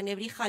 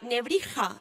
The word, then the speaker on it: Nebrija: De ahí a la Nebrija, escrita con X, pronunciada posteriormente como una J, había solo un pequeño paso.